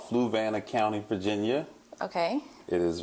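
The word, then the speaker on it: Fluvanna: Um, so I can't pronounce it, but tell me the county. Fluana. Fluana.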